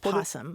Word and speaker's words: possum: There's a thing that happens when a word starts with a vowel like that, a vowel consonant, where it's easy to lose that O because that first syllable is unstressed. So that O defaults to a schwa or an O, and it just falls away, and it just turns into possum.